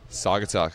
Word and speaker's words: Saugatuck: We're getting ready for a fun evening with Saugatuck. Did I pronounce that right? Saugatuck, got it right.